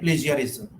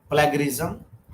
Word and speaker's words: plagiarism: two points infringement and plagiarism generally we pronounce the word plagarism it is the word is plagiarism and another one is